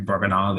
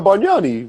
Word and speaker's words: Bargnani: This next one, Andrew Barganali. I don't know how do you say his name? Barganali. Never. I don't know. Oh, Andrea Bargnani, bro.